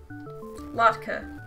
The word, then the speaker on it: latke: Also, just Google definition, like pronunciation, did not help me. That's unfortunate. Latke.